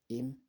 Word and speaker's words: ihm: Mir, dir, that, ihm to him, ihr, her to her, ihr, her to her, ihm. So you see silent H.